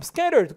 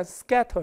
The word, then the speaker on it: scatter: 설치하는 모습이 없었고, 그다음 scattered 꼭 알아두세요. 보이시나요? 제가 잠깐 빠질까요? 전 잘렸지만 보셨죠? 이게 TT를 굴려서 발음해요. 모음모음사에 들어가면, 그래서 영국식으로 발음하면 약간 scatter 이렇게 되는데 저기 미국식으로 발음하면 scatter 이렇게 씁니다.